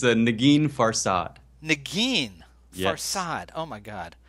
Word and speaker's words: Negin: Is it Nergin? You're not, but no one has ever pronounced it correctly. Tell me. It's a Negin Farsad. Negin Yes.